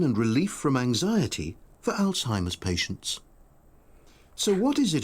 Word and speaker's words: Alzheimer's: 우리가 알츠하이머 병이다라는 거 발음이 조금 다르긴 하지만 Alzheimer 약간 이런 식으로 발음을 할 거거든요.